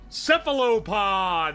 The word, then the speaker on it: cephalopod: Cephalopod!